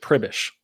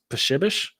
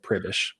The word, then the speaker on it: Pribish: name yeah so it's it's actually polish um you pronounce it pribish now it the polish pronunciation of it i believe is pishibish but that would just be even more difficult to explain to people so we've always just